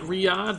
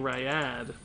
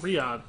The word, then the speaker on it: Riad: link never AFK to pronounced like Riad but most people make the mistake of saying ryad oh Riad glad I got it